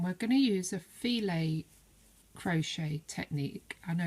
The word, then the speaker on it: filet: this one and we're going to use a feel a crochet technique I know it's written fill it